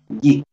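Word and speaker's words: Jeik: Bueno, hay un amigo que tengo que es también de Perú, que se llama Jig, que se escribe J-E-I-K. Una J, dos E y una K. Jig.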